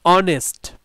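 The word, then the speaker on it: honest: A word is silent, যখন একটা শব্দের আগে এইচ থাকবে এবং সেই এইচটা সাইলেন্ট থাকবে, মানে উচ্চারণ হবে না, শুধুমাত্র লেখার সময় লিখতে হবে, যেমন দেখো অ্যান অনেস্ট, তাহলে এই এইচ উচ্চারণ হচ্ছে না, এই কারণে এখানে অ্যান মানে আর্টিকেল বসলো।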